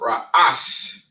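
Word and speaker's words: Resh: RA in the Assyrian it is pronounced rash rash which means head right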